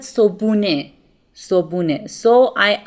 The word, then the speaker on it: صبحونه: I said صبحونه. صبحونه. So I omit the he sound.